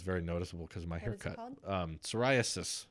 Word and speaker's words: psoriasis: noticeable because my haircut psoriasis spelt with a pee like pterodactyl but that psoriasis has been